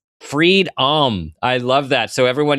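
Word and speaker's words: Freed-om: Freedohm is f r e e d. That is face last name and then {dash} ohm, o m.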